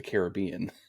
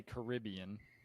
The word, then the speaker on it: Caribbean: I think too because it has an I in it, So I want to say Caribbean because of the I, but Pirates of the Caribbean, it's Caribbean in that movie.